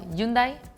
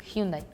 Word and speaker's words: Hyundai: the AG is muted in Spanish even if it's in the middle or the start at the end it's muted so that's why yundai Hundai but do you guys